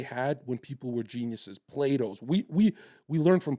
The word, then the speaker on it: Plato: study what they had when people were Geniuses Plato's we we learned from Plato right we don't we study Plato we don't study the blue guy my housekeeper keeps calling it play do and now my two-year-old thinks